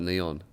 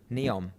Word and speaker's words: NEOM: I love how you call it neon. You're putting an N on the end of that?